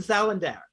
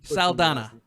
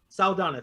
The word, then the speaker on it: Saldana: ah i went with zoe salinder i i'm saldana saldana thank you i butchered your last